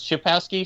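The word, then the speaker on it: Skipowski: give you a commendation he says chipowski is spelled SK IP he spells it skip ASCII but says his name is chip ASCII so it's like that's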